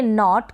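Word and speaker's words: knot: Rule ये है कि एन से पहले अगर के आता है तो वहाँ पर जो के है उन स्पेलिंग्स में साइलेंट रहता है। तो इसको हम पढ़ेंगे नॉट, के साइलेंट है तो नॉट, और के जो है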